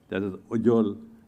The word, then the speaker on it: Ujjal: And I think I'll do it in due course, but I suppose that Ujjal is the correct way of pronouncing it.